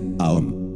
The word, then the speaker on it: Aum: con mucho gusto frater el mantram Aún se pronuncia aom hay que abrir bien la boca con la vocala redondearla con la o y cerrarla con la m y entre cada una